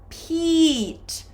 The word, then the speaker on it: Pete: His name is Pete. We do not pronounce this. We focus on this long vowel sound.